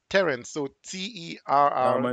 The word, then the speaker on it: Terrence: It's pronounced Terrence, not Terrance or anything else.